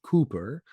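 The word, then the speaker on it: Cowper: And next to that we have William uh it's spelled Kalper but pronounced Cooper.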